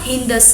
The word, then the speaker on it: सिंधु: अब उनको जो सिंधु बोलना नहीं आता था, सिंधु किस तरह से प्रोनाउंसिएशन करते हैं, इसलिए वो स को क्या बोलते थे? ह बोलते थे। इसलिए उन्होंने क्या कहा? हिंदस कहा।